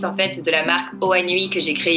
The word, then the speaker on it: Hoanui: Nous sommes aujourd'hui avec Inès Duhard, consultante, influenceuse et fondatrice de la marque de vêtements Oanoui. Bonjour Inès. Bonjour John. Alors j'ai bien prononcé Oanoui? Ouais, nickel. Oanoui, comme ça se prononce.